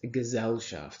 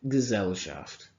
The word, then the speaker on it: Gesellschaft: I think it's pronounced Gesellschaft, so not a hard S, it's more like a Z. Gesellschaft.